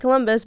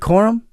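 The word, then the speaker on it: Corum: And then my Pooky Puka Nakua and Blake Columbus both found the Yeah, both found the end zone twice.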